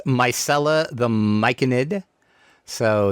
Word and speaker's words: Myconid: Most people say it as Myconid, which is fine. Um, but there's a lot of people that call it Myconoid. Um and I think that it's just people not not pronouncing the word correctly. Their eyes see the O in it and Could be, yeah.